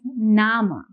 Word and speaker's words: Name: name if you see the spelling does look similar to what we have in English but the pronunciation here is going to be different in Doge we pronounce this as nama okay so your your